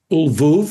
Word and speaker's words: Lwów: She moved to Ulvou, I'll use the Polish uh pronunciation, uh to pursue her education at the Yan Kajimish University where she uh studied psychology.